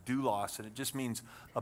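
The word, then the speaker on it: δοῦλος: And that word there is a word called pronounced doulos, and it just means a bond slave, somebody who willingly said, I will be your servant for the rest of my life.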